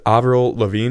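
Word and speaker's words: Lavigne: on shuffle and of course Girlfriend by Avril Avril Lavine is that you pronounce it there you go Sam's fired that's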